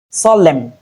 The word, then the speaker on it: solemn: add to the list moreover in place of MN that is with silent letter N we don't have the M sound what we have in place of MN is the M sound in words like him condemn solemn.